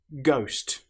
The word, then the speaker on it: ghost: Ghost. The letter H, as you'll notice, doesn't sound at all. Tough.